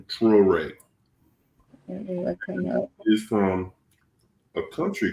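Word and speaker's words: Traoré: His name is Ibrahim Toure. Ibrahim Traore.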